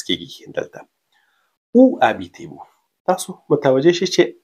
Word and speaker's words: habitez: تلفظ کیږي دلته او habitez-vous تاسو متوجه شئ چې اش چې دی په فرانسوي کې بې صدا حرف دی سایلنس دی نو دا تاسو نه تلفظ کوي تاسو نه وایئ چې